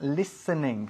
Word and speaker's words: listening: Decimos listening, que se escribe listening, ¿ah? Pero la pronunciamos listening, sin la T. La T desaparece.